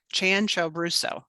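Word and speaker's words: Cianciaruso: say that one more time how do you pronounce that dan ciao rousseau chan cho brusso okay all right i'm gonna try to get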